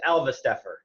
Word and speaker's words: Alvesteffer: So last name is Alvesteffer. Alvesteffer.